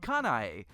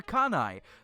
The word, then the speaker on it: Kanae: I explained that my daughter would like to be called Kanae, but she laughed and said she was pronouncing it the way it's supposed to be, but will try her best to remember.